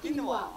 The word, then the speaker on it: quinoa: It's pronounced as quinoa.